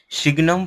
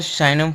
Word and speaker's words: signum: आगे का जो फंक्शन है वो है शिग्नम फंक्शन या शाइनम फंक्शन। जैसा आप प्रोनाउंसिएशन करें उससे कोई मतलब नहीं है, लेकिन जो काम का आता है वो हम बात करेंगे शिग्नम फंक्शन के बारे में।